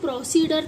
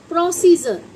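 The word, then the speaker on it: procedure: सी ई जी प्रोसीड लेकिन अगर आप इसे यू आर ई पढ़ेंगे तो आप इसे प्रोसीडर तो नहीं पढ़ते ना इसे हम क्या बोलते हैं बच्चों प्रोसीजर क्या बोलते हैं इसको प्रोसीजर यानी कि जो हमारी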